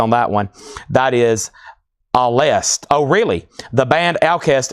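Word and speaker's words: Alcest: That is alst. Oh, really? The band Alcast is pronounced al. The C is pronounced like an S.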